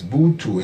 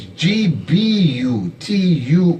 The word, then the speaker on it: Gbutuo: And Butu is in the records, but it is some people pronounce it wrongly as Butu. It's not. It's Bu. It's Gbutuo, Butu.